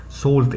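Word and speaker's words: salt: سولت هتلاقيني كاتب لك طريقة النطق اهو جنبها، سولت الاي دي بتتنطق زي ما تكون او فبنقول سولت، هي الكلمة بتتنطق كده مش لازم تعرف ليه، وهتلاقيني كاتب لك النطق بتاعها يعني ملح.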